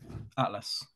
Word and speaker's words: Aetlas: think so right all right Harry is it pronounced Atlas or Atlas Atlas spelled the Greek way that's what I thought